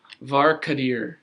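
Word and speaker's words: Var'Kadir: obviously is the evil one uh and it's var kadir and that is the name of his father mark dear and that is spelled v-a-r apostrophe k-a-d-i-r also i have one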